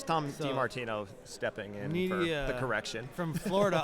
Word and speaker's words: Nydia: No, it's pronounced Nidia.